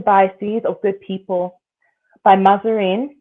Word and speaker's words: Mahzarin: Blind Spot, Hidden Biases of Good People by Mazarin, which is spelled Mahzarin, Banerjee, which is spelled Banaji, and Anthony G.